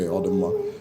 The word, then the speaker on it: Odinala: Okay, Odinala.